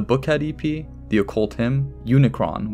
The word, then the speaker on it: Unicron: ep the occult him Unicron which apparently I've been pronouncing as the Unicorn this whole time West Side Doom DJ